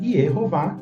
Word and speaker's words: Yehovah: sacerdotes, Errorã, enfim, bom, todos esses nomes mostram que a pronúncia Ierro foi preservada e temos também Ierová, que é o nome do próprio Deus todo- poderoso.